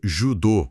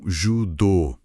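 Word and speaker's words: 柔道: Então, judô não se pronuncia judô, com o nosso O fechado. A pronúncia correta se aproxima mais de um judô, alongando as vogais. Exatamente. A pronúncia correta é com as vogais longas.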